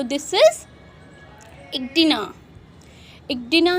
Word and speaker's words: echidna: तो ये कौन सा एनिमल है, तो दिस इज इक्डिना। इक्डिना है, आप स्पेलिंग लर्न करोगे ECHIDNA, ठीक है, इक्डिना।